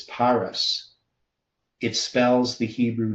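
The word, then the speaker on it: Peres: The root word is Perez meaning divided matching the fiscal halfmina but pronounced as parus.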